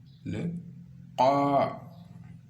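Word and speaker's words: خاء: Donc ensuite vous avez le qa. Donc ça sort de la gorge. Vous soulevez légèrement la langue vers le haut. Donc qa.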